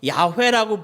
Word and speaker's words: 야훼: 그래서 이 모음을 어떻게 찍느냐에 따라서 여호와라고 읽은 사람들이 생겼고 어떻게 모음을 찍느냐에 따라서 야훼라고 부르는 이 이름이 두 가지의 이름으로 이렇게 다르게 부르기 시작합니다. 여호와 또는 야훼.